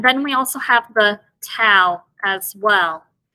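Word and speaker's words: ת: The tau as well is one of those letters that has two different pronunciations. With the dog-ash lene, it is pronounced t. And then without the dog-ash lene, it is pronounced as a th sound, f.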